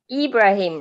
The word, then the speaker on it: Ibrahim: if you're interested okay how to pronounce the second name ibrahim right yeah yes okay thank you wonderful